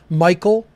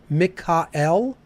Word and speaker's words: Michael: Okay, so the archangels are Michael, or if we're pronouncing it the ancient way, Mikael, right?